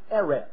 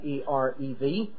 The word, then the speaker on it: erev: Now, to understand something, throughout the Old Testament, the word that is translated evening is the Hebrew word erev. You would spell it out in English, E-R-E-V, erev.